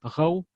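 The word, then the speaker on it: гъæу: То есть в дигорском будет «гау» — село, а в иронском «кау».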